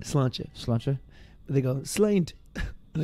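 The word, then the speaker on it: sláinte: But they say slant. How do you, what's the actual proper way to say it? Slantcha.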